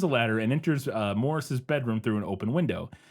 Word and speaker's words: Maurice: For people who don't know, it's spelled Maurice, but it's pronounced Morris in Britain, apparently. One night, Alec climbs a ladder and enters uh Morris's bedroom through an open window.